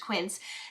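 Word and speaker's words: Quince: idea but specifically these slippers from this brand Quin which you know I love even though I never know how to pronounce the brand I have found out it's pronounced quins these Rock these are exactly like the ug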